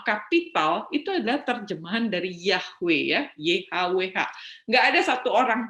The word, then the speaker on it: Yahweh: jadi yhwh bacanya Bagaimana jadi banyak beberapa scholer orang-orang mencoba melafalkannya sebagai yahwe gitu Ya saya juga merata